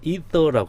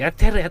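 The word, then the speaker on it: ether: 붙어 있을 경우 이것을 이터라고 합니다. 이터. 옛날에는 우리 에테르 했는데 에테르 하지 말고 이터, 그걸 발음 에터라고도 쓰면 되죠.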